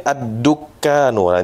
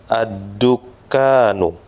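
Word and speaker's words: الدُّكَّانُ: Artikan mis miskin kemudian addukkanuah ini perlu kita hati-hati betul ya addukkanu ya addukkanu Toko Nah addukkanu nah seperti itu kemudian qasirun qasirun qasirun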